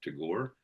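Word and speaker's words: Tagore: where the mind is without appear Robin Dernath to Gore. Uh for those of you interested um it is spelled T A G O R E.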